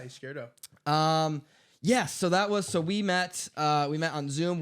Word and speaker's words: Izquierdo: Izquierdo. Is that a good pronunciation? Yeah, Izquierdo.